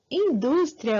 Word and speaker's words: indústria: voltando Aí pessoal eh na palavra indústria a gente já tem aí né Eh a penúltima sílaba que assintente tem industria então indústria é uma paroxítona beleza diferente aqui de